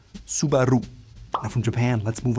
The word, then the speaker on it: Subaru: You can tell Americans or English speakers will put the emphasis on the first syllable and say Subaru. Now a Japanese would say Subaru. The R is rolled on the R, and the emphasis is more in the middle.